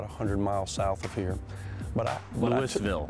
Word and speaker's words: Louisville: Louisville. Louisville. Not Louisville.